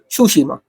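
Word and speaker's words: Tsushima: यार ये देख लेना, तुशिमा या फिर सुशिमा, क्योंकि वो लोग ना टी को प्रोनाउंस नहीं करते हैं, तो इट इज सुशिमा, बट हम तो तुशिमा ही बोलेंगे वरना स्पेलिंग गलत लिख देंगे।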